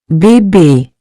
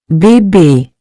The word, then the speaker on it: bébé: This accent gives the E a clear, closed sound, similar to the A in the English word, say.